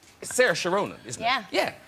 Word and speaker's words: Saoirse: Yeah, I don't think I actually pronounce my name the correct way. I say Saoirse. But a lot of people in Ireland say, no, it's actually Saoirse. I think you're saying that wrong. So I don't know. I'm going to say Saoirse.